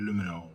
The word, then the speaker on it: Lumino: Lumino diye okunuyor sanırım.